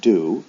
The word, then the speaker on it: do: example do and go both end in an o but one is pronounced do the other was pronounced with an o sound go for the s form